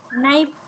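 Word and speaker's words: knife: ठीक आहे इकडच्या बाजू दिसते ना सर्वांना नाईफ नाईफ लिहून घ्या नाईफ के सायलेंट असतो तिथ नाईफ असे असतील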